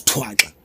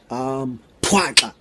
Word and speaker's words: Thwaxa: Thwaxa, pronounced as thwa-xa, thwa-xa.